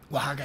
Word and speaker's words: Oaxaca: Oaxaca, did yeah. I get it? Yeah. Oh, I pronounced it right.